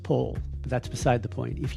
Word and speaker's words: Powell: You might be tempted to call him Anthony Powell. It's actually pronounced Pole.